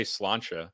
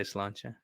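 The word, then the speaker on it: sláinte: um Irish descendants like people say slancha which is slancha yeah yeah just one thing it's one word it's so funny because it's I only ever hear Irish Americans say salanta really yeah it's like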